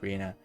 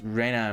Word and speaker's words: Rena: can you ignore me i think it's rena as well i just i'm so used to doing like the english pronunciations that that's why i'm doing arena it is reyna mion uh okay it's just like i will read it in in spanish interestingly enough um i